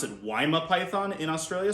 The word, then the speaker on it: Woma: they actually pronounce it weima python in australia so waima python is how you probably hear that being spoken in australia but either way these